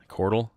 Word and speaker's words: chordal: Chordal? Is that a word? Chordal rhymes with chortle, which means to laugh.